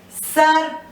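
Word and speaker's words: सर्प: This is Sar. This R is pronounced before the P. So this is Karm, Sarp, Harsh and Kharch.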